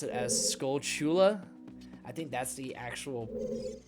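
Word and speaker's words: Skulltula: pronounce those enemies as skull skulas I'm pretty sure it's a a combination of the two English words skull and tarantula and so I kind of pronounce it as skull Chula I think that's the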